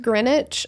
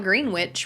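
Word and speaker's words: Greenwich: feel like a c in Connecticut this would be pronounced grenwich I feel like I would still say it's grenwich okay they wouldn't call it green witch right that's silly I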